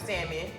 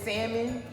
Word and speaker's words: salmon: they say that it's salmon but i i call it don't pronounce it yes you're not supposed to pronounce the l um and then your